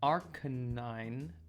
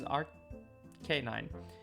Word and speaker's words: Arcanine: according to my research, Arcanine is a combination of the words arcane and canine, which really implies that it should be pronounced arcanine.